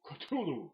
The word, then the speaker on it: Cthulhu: Which is apparently how you're supposed to pronounce that, not Cthulhu. Try to say it in the furthest way you can, because Cthulhu, after all, is an utterly alien word, impronounceable to our pathetic vocal cords.